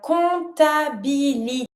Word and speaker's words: comptabilité: Accounting is la comptabilité. Careful with this one. Do not pronounce the P.